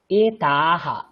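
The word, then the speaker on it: এতাঃ: উচ্চারণ ঠিক করে করবেন, নাহলে কিন্তু ভুল হয়ে যাবে। এতাহা, দেখুন বিসর্গের আগে কি আছে? আকার আছে না, তো আকারের উচ্চারণ তো দীর্ঘ, আমি তো বলেছি লতা। তো এতাহা, এতাহা, এতাহা স্পষ্ট উচ্চারণ করুন।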